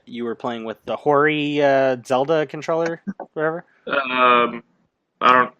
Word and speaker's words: Hori: People pronounce it Hori. People pronounce it Ori. It's Hori. Whatever.